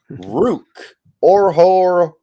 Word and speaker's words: Ruke Orhorhoro: It is Ruke Orhorhoro.